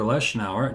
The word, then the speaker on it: Leshnower: uh the wonderful violinist Jennifer lesnau did I say your name right precisely right oh man I could